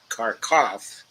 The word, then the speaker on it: Kharkiv: By the way, with respect to Kharkiv, got some news the other day that Kharkov, the Russian pronunciation of Kharkiv, has now fallen, to the Russians.